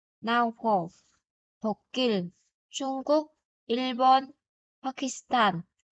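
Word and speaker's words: 파키스탄: Ghi là sẽ là Pakistan, nhưng phát âm sẽ là Pakistan.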